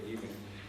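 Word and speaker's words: Gielen: Por otro lado, Pascal Gillen, es un holandés, creo que se pronuncia Gillen, un sociólogo de arte,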